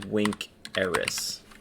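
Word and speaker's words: vinceris: because of the is it's actually wink eris we don't do iris unless it's a long i it's just one of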